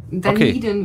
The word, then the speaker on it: Dunedin: Ist dasselbe. Dunedin. Dunedin wird es ausgesprochen und Dunedin ist die zweitgrößte Stadt da auf der Südinsel.